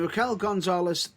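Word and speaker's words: Raquel Gonzalez: contender yeah her no no more contender i'm raquel gonzales there please tell me i've pronounced it correctly to the best of my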